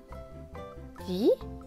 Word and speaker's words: dit: Dit, le T à la fin est écrit en gris, donc il ne se prononce pas.